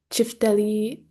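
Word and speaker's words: çifteli: So, going one by one, as you see here, there's a kaval, lahuta, chifteli, the little line under the sea makes it a ch sound, the daire, zorla, tupan, accordion.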